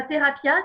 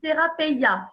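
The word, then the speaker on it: θεραπεία: C'est pas thérapia, c'est thérapeia.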